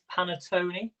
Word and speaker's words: panettone: christmas time in italy pantasoni panazoni i don't i'm not sure if i'm saying that right it begins with pee right i can tell you the answer yes it is panettone and it's spelt p